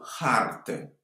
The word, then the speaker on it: hartă: Pe perete sunt 4 tablouri și o hartă. Attention à la prononciation du H. En roumain, le H est son ton. C'est pas muet comme en français.